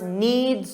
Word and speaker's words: knead: So a baker, of course, kneads dough every single day as part of their job. Now notice the pronunciation of knead. What does it sound like?